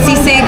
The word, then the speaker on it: sisig: Yeah, so we're saying it wrong. So sisig.